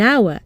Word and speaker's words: hour: hear a vowel sound so we say an hour and not a hour another exception the use